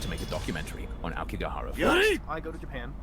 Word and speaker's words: Aokigahara: No, it's Aokigahara.